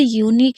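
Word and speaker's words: unique: अब कहीं पर भी जब किसी वर्ड के अंत में क्यू यू ई हो तो क्यू यू ई को क्या पढ़ेंगे? क पढ़ेंगे। क्या पढ़ेंगे? क पढ़ेंगे। याद रखिएगा। जैसे यूनिक है। यूरिंग में क्यू यू ई है तो हम इसे क्या पढ़ रहे हैं? का पढ़ रहे हैं। लास्ट वर्ब में देखिए तो हम याद रखेंगे क्यू यू ई होगा तो क्यू यू ई को का पढ़ेंगे।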